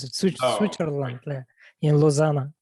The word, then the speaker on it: Lausanne: I can't pronounce it. Switzerland, in Lausanne. Lausanne.